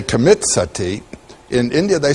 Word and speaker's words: sati: You know the word sati? In Sanskrit it's spelled S-A-T-I, long I.